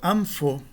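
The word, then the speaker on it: ἄμφω: Um terceiro exemplo, ampho. O fi aqui é uma labial e a nasal que o antecede será também uma labial, né? Um mu.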